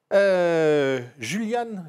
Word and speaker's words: Julian: Voilà, et c'est Juliane mon prénom.